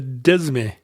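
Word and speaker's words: disme: The dime is the tenth, but it's spelled D-I-S-M-E. Oh, yeah, the desme. Yeah, it's French, I guess. And when you put the silent French S in, you can totally see the Latin derivation from decima or decimal. That's dime just means tenth with that silent S in there.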